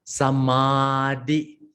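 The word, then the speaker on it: samādiyāmi: Sa is a short, ma is a long, samadhiyami.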